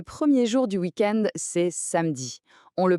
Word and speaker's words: samedi: Le premier jour du weekend, c'est samedi. On le prononce samedi. Un peu comme pour mercredi, le e du milieu est souvent silencieux à l'oral, ce qui donne une prononciation très fluide et rapide.